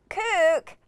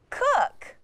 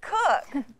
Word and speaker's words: cook: K, OO, K, COOK. Oh man, that doesn't sound right. Try the UH pronunciation. K, UH, K, COOK. It isn't pronounced COOK, it's COOK.